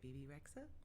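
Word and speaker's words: Bebe Rexha: yeah i don't know i'm not going to say it right bibi rexa yeah no that's how you say it um okay um or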